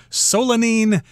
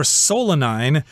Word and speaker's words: solanine: toxin in the potatoes solanine or solanine are dictionaries so you can pronounce it either way i can't imagine that